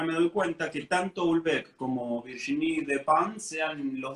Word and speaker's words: Houellebecq: Houellebecq, mira, acá nos dice, perdóname, Ari Barrio Nuevo, que la pronunciación es Houellebecq.